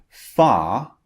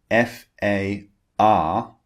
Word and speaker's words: far: Far, F-A-R, is pronounced ah, far in British English. In American English, the R at the end of the word is pronounced far. Can you hear that? This is the American pronunciation, far. But in British English, when the R comes at the end of a word, we do not pronounce it. So when the R is at the end, it just turns into a long vowel sound.